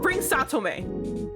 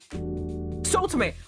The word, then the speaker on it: Sotome: Bring Satome. Wait, hold on. What's his name? Did I say his name wrong? Sotome. Bring Sotome.